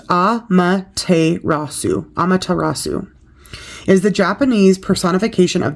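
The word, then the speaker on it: Amaterasu: shine bright and be seen meet the goddess pronounced a rasu amatarasu is the Japanese personification of the sun here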